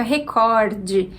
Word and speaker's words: recorde: o e sinal e a pronúncia fica recorde esse o corte é a sílaba tônica a gente tem uma palavra paroxítona 24 a palavra é